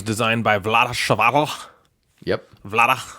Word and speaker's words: Vlada: Vlada. I think that's actually how you pronounce it.